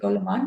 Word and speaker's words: Goleman: My point of reference for today was the book The Emotional Intelligence, Daniel Goleman. I don't know if my pronunciation is Okay. correct. Goleman, Right.